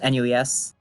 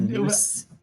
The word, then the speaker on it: NUES: just follow it out it's just nues and you've been yeah we've been finding it kind of hilarious though the ways that everyone else has been pronouncing it i've heard news we called it newest the whole cast so